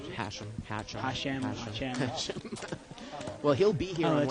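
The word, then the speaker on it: Hachem: Joseph Hatchin. Hashem. Hashem.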